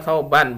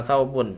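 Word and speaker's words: ثَوْبًا: Nah, thawban tetap menjadi maf'ul bih, maka bacanya thawban bukan thawbun ya, thawban.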